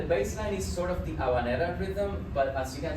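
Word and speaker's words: habanera: sometimes we call it havanera but we don't pronounce the h it's silent in in Spanish so it's aan because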